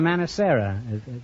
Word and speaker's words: Manacera: Manacera. Yes. That's an odd name. Is that the correct pronunciation? Yes, it is. Mm-hmm. Is that, what is it, Spanish? Italian. Italian. Well, what does it mean in English?